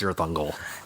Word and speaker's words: Cirith Ungol: Cirith Ungol, I think, is how you pronounce it. And Wagner and sounds a little more uppity when he did the heavy metal. It's just Cirith Ungol.